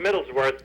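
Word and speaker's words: Middleswarth: Middlesworth. It's pronounced Middlesworth, but it's Middles instead of W-O-R-T-H. It's W-A-R-T-H.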